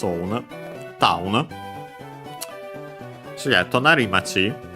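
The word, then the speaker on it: 隣町: So yeah, tonari machi, the accent of the compound is on the ri, on the final syllable of the first word part of the compound.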